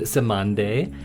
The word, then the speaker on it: Cymande: Uh, but then I got into this band, Samande, and it's spelled C Y M A N D E and it's the calypso word for dove.